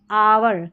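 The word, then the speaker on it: hour: अब यहाँ पर देखिए ये है आवर, क्या है, आवर, एच के बाद में ओ है।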